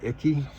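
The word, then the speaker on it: Icke: it's um David I I call him icky which is kind of funny um that's how I call it but I think it's Ike is the pron correct pronunciation um he's got such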